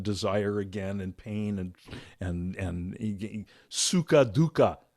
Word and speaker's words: sukha dukkha: again and pain and sukha dukkha is a great expression. I love it because it rhymes. Sukha dukkha sounds like, Tweedledee, Tweedledum.